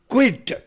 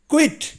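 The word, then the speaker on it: quit: அடுத்தது 12 பாருங்கள், குயிட். இதை உச்சரிக்கும் போது கொஞ்சம் சிரமமாக இருக்கும். அந்த கியூ வந்து இக்கு சவுண்டில் வருது, அப்புறம் அதை வீன்னு உச்சரிக்கணும், அப்புறம் இட்டு. குயிட்.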